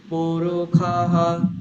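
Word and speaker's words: পুরুষঃ: প্রথম সকারে আমি নিচে নামিয়ে দেবো, কিরকম হবে, পুরুখাহ সহস্রাক্ষাহ সহস্রপাত, বুঝা যাচ্ছে কিরকম হলো, পুরুখাহ সহস্রাক্ষাহ সহস্রপাত, বলুন। স্যার উচ্চারণগুলো আর একবার বলে দেবেন?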